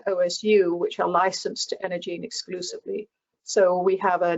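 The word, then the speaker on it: EnergyEne: So and it's pronounced Energene, so the Y is silent.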